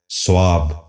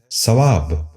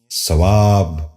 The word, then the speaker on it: ثواب: سیام۔ نواں لفظ ہے ثواب۔ یہ غلط تلفظ ہے، درست تلفظ ہے ثواب۔ دوبارہ سنیے، ثواب۔ بچوں آپ بھی غور